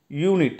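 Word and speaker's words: unit: யூனிட், இங்கே பார்த்தீங்கன்னா vowel sound, vowel letter இருக்குது, ஆனால் அதை ப்ரொனவுன்ஸ் பண்ணும்போது யூ அப்படின்னு சொல்லிட்டு ஒய் மாதிரி வருது, சரிங்களா?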